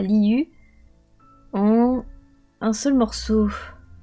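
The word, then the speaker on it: Liyue: Ça se prononce liu.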